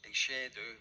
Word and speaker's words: shéideadh: A shéideadh, pronounced "a shade do" or near enough, and meaning blowing, used of great biblical winds, means also to play the pipes.